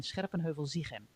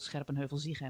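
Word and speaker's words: Scherpenheuvel-Zichem: So, and I'm not going to do that because, you know, I am Dutch and it's called Scherpenheuvel-Ziegem and I can't change it.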